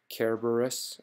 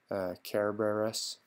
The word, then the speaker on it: Cerberus: Cerberus or Cerberus, but the Latin Romans pronounced it with a hard C, actually, Cerberus, but we usually call it Cerberus, the dog with 3 heads.